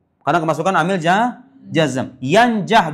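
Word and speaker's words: يَنْجَحْ: Yanjah dibacanya yanjah. Kenapa yanjah? Menjadi jawab s jawab syarat. Kedua-duanya sama-sama dijazamkan oleh man.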